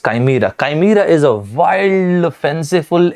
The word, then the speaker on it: chimera: that is called chimera western people at times they pronounce it as shimara so but i prefer pronouncing it as chimera chimera is a wild